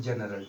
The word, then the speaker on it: general: तो इसको पढ़ते हैं जनरल।